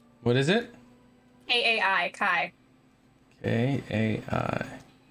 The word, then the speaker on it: Kai: charming person hi what is it aai kai k a i pronounced kai okay so we have kai the monk